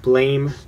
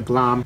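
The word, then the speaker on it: Blame!: have single volume of blame or I always pronounce this wrong single volume of blam I don't know why there's an e there it's stupid a single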